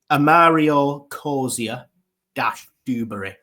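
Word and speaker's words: Amario Cozier-Duberry: Amario Coia-dubbury.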